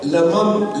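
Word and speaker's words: لمم: In the Holy Quran, which is pronounced as Lamam, Lam, Mim, Mim, which means minor sins.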